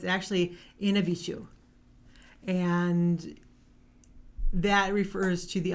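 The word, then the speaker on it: Mishipeshu: It's actually, the words are not pronounced how they're spelled. So it's actually Inabishu.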